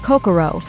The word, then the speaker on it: 556: Yes, it's pronounced Kokoro because numbers and names are totally normal.